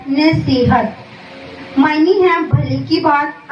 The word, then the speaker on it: نصیحت: نصیحت عربی زبان کا لفظ ہے, تلفظ ہے نصیحت.